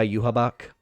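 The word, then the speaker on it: Yhwach: where I'm thinking like the main bad guy you habak yes that's how you pronounce his name yeah I hate his name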